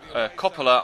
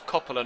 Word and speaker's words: Coppola: We do stay with Coppola. I was told in the comments the emphasis is on the first O, not the second, so it's Coppola, not Coppola.